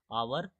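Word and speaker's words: hour: यहां देखिए आवर है तो कैसे हम लोग पढ़ रहे हैं? आवर किस कैसे पढ़ रहे हैं? आवर का उच्चारण क्या आ रहा है? अ क्या पढ़ रहे हैं उच्चारण? अ। तो अ से लेकर अ तक क्या है हमारा? वोवेल है।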